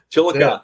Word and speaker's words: Chillicothe: what happens uh in chillicothe we'll put your name on the list did i did i say it right chillicothe you got it chill coffee hallelujah man hallelujah all